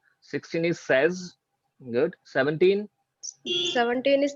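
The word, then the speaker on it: seize: 16 is says. 16 is says.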